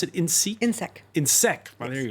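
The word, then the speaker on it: INSEEC: You pronounce it INSEC?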